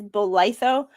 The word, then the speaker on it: Bolitho: And the pronunciation of his last name is Bolitho.